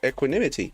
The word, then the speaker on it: equanimity: How do you pronounce that word? Oh, I said it right. Equanimity.